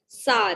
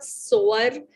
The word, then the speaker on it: sour: सार, प्लीज इसकी प्रोनाउंसिएशन पे थोड़ा सा ध्यान दीजिए. This is नॉट सोअर, Sawar. The pronunciation is सार, ठीक है?